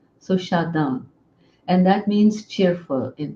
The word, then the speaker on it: Shadan: Shada so that became my nickname and Shada is spelled s h a d a n uh at one point I was going to